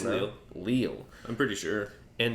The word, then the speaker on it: Lille: Is that how you pronounce it? Or Lille? It's Lille.